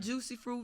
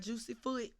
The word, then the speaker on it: Jucee Froot: they can follow you i am juicy fruit not juicy food is spelled j-u-c-e-e-f-r-o-o-t